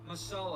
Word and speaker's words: masala: It's called magic masala or I'm probably butchering the pronunciation. Oh, it's masala.